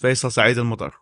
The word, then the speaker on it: Faisal Saeed Al Mutar: Yes, Faisal Saeed Al Mutar. That's the way to pronounce it in Arabic, but it's it's the easiest way to remember my name is Face with Al.